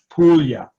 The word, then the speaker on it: Puglia: it's not puglia it's p-o-o-l-i-a that's how it's pronounced puglia and in italy it's not puglia it's apollya